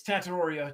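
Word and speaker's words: Tetairoa: It's Tattoriia.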